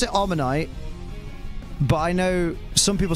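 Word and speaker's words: Omanyte: omite I pronounce it omite but I know some people say omite because of Omar but it's amonite because it's based on an ammonite inter about a is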